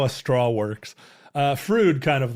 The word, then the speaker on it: Froude: So there was a naval engineer by the name of Froude who developed this Froude number. Did he develop a new vowel to say his name also? Froude.